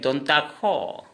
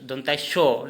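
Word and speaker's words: দন্ত্য স: इस स को हम दंतस्य को बोलेंगे हम असमिया में दंता खो। उच्चारण होगा दंता शो, लेकिन लिखते टाइम में लिखेंगे दंता शो, लेकिन उच्चारण होगा दंता खो, दंता खो।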